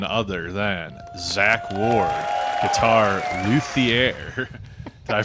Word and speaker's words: luthier: we have none other than Zack Ward guitar luier I pronounce that correctly yeah yeah that's a good